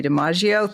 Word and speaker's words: DiMaggio: So, my name is Deaggio, third cousins to Joe Deaggio. just sometimes people get my name misspell my name or mispronounce it. So if I say Joe Deaggio they get it.